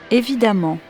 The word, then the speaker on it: évidemment: et élégamment A2 m vous noterez que l'on prononce de la même façon amant les deux graphies voici les points à